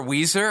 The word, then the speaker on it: Ouiser: And they kept calling her Weezer, and I thought that was just her last name.